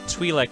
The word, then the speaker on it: Twi'lek: Twi'lek is also an acceptable pronunciation.